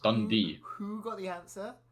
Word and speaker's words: Dundee: One of them's called Dund, the other one's called Oceans 11.